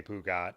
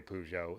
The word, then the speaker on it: Peugeot: made fun of me for saying pujo and i'm like you don't say the t in a word like that in french but then he told me it's a dialect thing some people do say pugot and some people do say pujo in france so for what it's